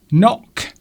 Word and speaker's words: knock: The answer is, and a lot of people got this also happens to have a silent letter at the start. Bing! Knock.